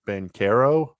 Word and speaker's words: Banchero: It seems like Jabari Smith Jr., Paolo Banchero. I think it's a hard C sound, not the for the record, sound.